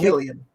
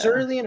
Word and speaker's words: Cillian: So Killian. he Killian. technically said it somewhat like that. That's why I was like, Because I kept saying yeah. Cerulean or something like that, but I know I wasn't saying that.